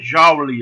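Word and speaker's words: joule: enjaules davi do trabalho só se escreve jolie letra maiúscula porque não olham de nome próprio e se pronuncia jauli aproximadamente um ar certo mas já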